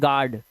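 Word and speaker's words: guard: यू को silent करते हैं। इसे पढ़ते हैं गार्ड।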